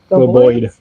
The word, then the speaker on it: Globoid: Globoid. It's spelled weird. I was gonna look at it, but now my internet has failed again. GLOBOID. BOID? Boyd. Boyd. Globoid.